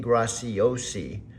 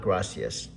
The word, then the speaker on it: Graciosi: So it's Dean Graciosi. Dean Graciosi, not Gracias.